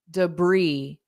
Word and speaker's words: debris: this one so here syllable stress is important d da debris debris Bri so there's no s on it at all and the vowel sound is e not i e debris briis and